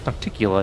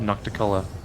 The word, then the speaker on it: Nocticula: It's Nocticula, not Nocticula. I know we're a little bit over time, but I'm going to go back to the...